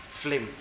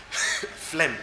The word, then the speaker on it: phlegm: flame flame of flame the G silent flim so wind and buyer and fling phlegm phlegm these three can